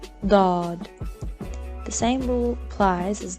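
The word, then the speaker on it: ض: Dad. The same rule applies as the previous letter, Sad. Dad is also a heavy letter. Think of it as a heavy D.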